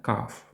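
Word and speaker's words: cough: перше слово - це каф кашель якщо перекласти на українську тобто букви g h перетворюються в букву F Так це може звучати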